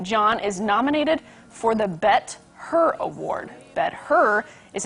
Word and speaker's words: BET: The Bet? Yeah. Spell that. B-E-T. It's the BET Awards, I believe.